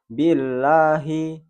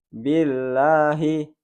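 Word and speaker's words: بِاللَّهِ: Padahal ini harus dibaca dua harokat. Contohnya billahi, billahi. Ingat, hanya 2 ayunan atau 2 ketukan. billahi, tidak boleh lebih.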